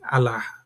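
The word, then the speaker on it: ܐܠܗܐ: এরামেকের একটি উপভাষা উপভাষা সিরিয়াকে এর উচ্চারণ হয় আলাহা।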